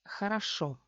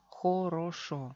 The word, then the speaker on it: хорошо: Хорошо. Oficialmente se lee хорошо, хорошо. Aquí tenemos dos O atónicas. ¿Y qué pasa? Sufren reducción.